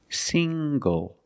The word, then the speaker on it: single: also this word single single the n g makes the nasal sound plus the hard G single single I'm not